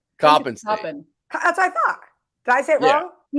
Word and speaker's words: Coppin: Coppin. That's what I thought. Did I say it wrong? No, he was saying Copen because that's the state that he's been in.